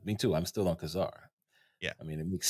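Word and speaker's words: Ka-Zar: yeah so how do you pronounce Kazar it's Kazar I call it Kazar right and will go you're wrong it's technically kesar but it's it's taken me a year and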